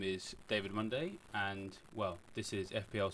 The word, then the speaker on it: Munday: My name is David Munday and, well, this is FPL Sunday with, yeah, you guessed it, it rhymes.